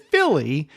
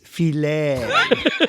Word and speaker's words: filet: And then I realized he said Philly, and I'm laughing to myself because I was going to say, Chris, it's filet. Filet.